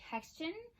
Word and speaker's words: Hextian: So his name is, I know I'm going to mispronounce it, so I'll spell it for you. It's like Hextion. It's spelled Hextian.